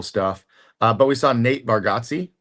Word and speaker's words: Bargatze: But we saw Nate Bargatze, not Bargatze, Bargatze.